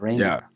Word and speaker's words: Rayner: As you can see with me tonight is Rayner. I hope I'm pronouncing that right. Am I pronouncing that right? Yeah, Rayner.